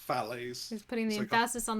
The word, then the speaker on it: Fallaize: i was at university everyone always called me as well uh but it is pronounced phallaes he's putting the ambassadors